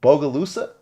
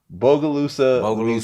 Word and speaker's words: Bogalusa: so you're actually from tell me if i'm pronouncing this right bogalusa that's perfect i swear like you you're the first person to actually pronounce it right bogalusa louisiana right small city